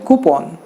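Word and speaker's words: coupon: टू से कूपन, लेकिन actually it should be called कूपन। यूएस में भी और यूके में भी लोग कूपन ही कहते हैं। इंडिया में भी बाय द वे अगर गूगल की सुने तो इंडियन प्रोनाउंसिएशन भी उसका कूपन ही है।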